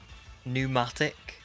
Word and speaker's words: pneumatic: drop them like the the silent P why are we doing that let's just get rid you know pneumatic just just start it with an N I actually do you